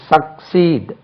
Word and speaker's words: succeed: தொடர், அடுத்து வா, வெற்றி, வெற்றி பெறு, succeed, succeed, SUCCEED, succeed, succeed, second syllable தான் stress, succeed, succeeded, SUCCEEDED, succeeded,